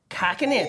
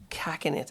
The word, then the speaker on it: cachinnate: bit back to front it's not cash it's CAC it's cing it yeah it's it's where